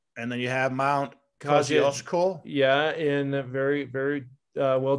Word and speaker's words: Kosciuszko: And then you have Mount Kosciuszko. Yeah, in very, very well done with that pronunciation.